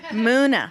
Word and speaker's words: MUNA: What's the proper pronunciation? Muna. Muna.